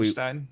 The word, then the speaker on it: Wolfenstein: He'll pronounce Wolfenstein and Horizon. Wolfenstein.